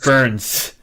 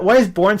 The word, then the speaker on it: Burns: It burns. I know. I that took me a while too. I kept saying "born" too, and I'm like, why is "born" spelled with a U? It's not born. It's burns.